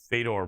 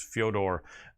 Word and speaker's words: Fyodor: Fedor, pronounced normal, his name in Russian pronounced Fyodor Emelianenko, always like that.